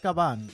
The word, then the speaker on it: Caban: It's Caban. Caban. Yeah. You got to put the. What is your ethnic background? I'm Puerto Rican. So it's okay. Caban.